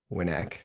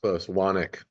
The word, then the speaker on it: Wanek: We have the CEO of Western Technology Investments, Winek. close. Wanek. Wanek.